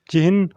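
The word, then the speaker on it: चिह्न: ही सही शब्द है इसका उच्चारण चिन्न होता है जो च जो कैसे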